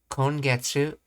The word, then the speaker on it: 今月: The other pronunciation of ima is kon. That's right. When using ima with a lot of these date words, it's often pronounced as kon. So, kongetsu.